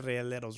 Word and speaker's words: Rieleros: I finally said Rieleros right. That's how you say it.